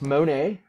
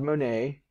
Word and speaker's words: Monet: that's him there claude monet the t is silent i want you to know that he was an impressionist